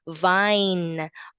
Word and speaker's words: vine: But the letter E at the end is quiet, is silent.